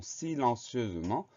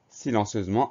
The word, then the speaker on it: silencieusement: Le son Z s'obtient avec le S puisqu'il est entouré de deux voyelles.